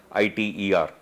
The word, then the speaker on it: ITER: This attempt, which is happening in France, the project is called as ITER, I-T-E-R, generally pronounced as ITER, euphemistically is called as miniature